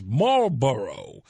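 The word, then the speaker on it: Marlborough: Mber, spelled with a gh, not like the cigarettes. Mboro.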